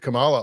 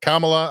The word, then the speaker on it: Kamala: all the time or Kamala I can't remember how you say it it used to be uh Kamala and then they changed it to Kamala they corrected everybody but it was like the first one for like two